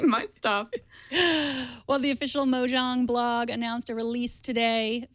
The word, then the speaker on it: Mojang: And um I'm afraid I probably mispronounced Mojang. Is it Mojang or Mojang?